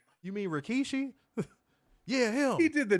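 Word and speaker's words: Rikishi: I'll be like who the is Rakkeshi? You mean Rkkeshi?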